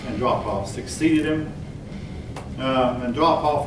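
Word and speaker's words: Andropov: and drop off and his name is pronounced and drop off succeeded him and drop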